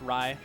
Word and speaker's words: Rai: I believe it's pronounced Rye. Is it Rai? Yeah, it's Rye. Okay. Yeah, that's why there's an I instead of a Y.